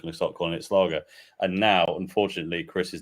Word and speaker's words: Schlager: It might be my fault because he kept putting it in, and I just started pronouncing it Slager instead of Slagger, which I think it was what he intended.